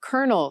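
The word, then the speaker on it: colonel: Suddenly, English seems beautifully simple until you hit read or read tough and through or kernel spelled with an L pronounced with an R.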